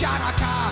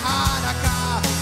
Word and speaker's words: Hanukkah: It's not pronounced Chanukah. The C is silent in Hanukkah.